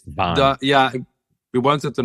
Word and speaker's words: WAAN: Just so I get it right, how do you pronounce the band name? It's called WAAN. WAAN. It's WAAN.